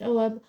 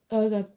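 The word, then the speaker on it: ogham: it shows the symbol called pronounced om or umum which is the early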